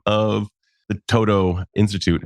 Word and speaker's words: Todo: So the name of our organization is the Todo Institute. We're an education and retreat center here in Vermont. And in Vermont, we're often referred to as the To-Do Institute because that first word, Todo, is spelled T-O-D-O.